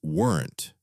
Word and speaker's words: weren't: That becomes weren't. Weren't. That is a bit hard. It is one syllable, fast, weren't.